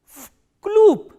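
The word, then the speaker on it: в клуб: Because this v is voiced, so it will be pronounced as its voiceless counterpart, which is f, and this b is again a voiced consonant, so it will be pronounced as p. Vkloop.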